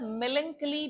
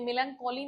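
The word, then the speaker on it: melancholy: और उसके बाद मेलंकली डार्कनेस। अच्छा, इसका प्रोनाउंसिएशन ध्यान रखना, ये मेलंकोली नहीं है, मेलंचोली नहीं है। क्या बोलना है इसको? मेलंकली। क्या बोलोगे? मेलंकली।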